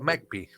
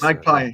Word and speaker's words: Magpie: little bit more about MacP. Did I pronounce correctly, Christian? MacP? No. Okay. I was sure. I was Magpie. sure. Magpie. It's a All right. Okay. very Magpie. English word, I think.